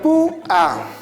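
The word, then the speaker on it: púa: Lo mismo sucede con la palabra pua. Si tú pronuncias adecuadamente esta palabra, te darás cuenta que la mayor fuerza de voz recae sobre la vocal débil, lo que produce el hiato.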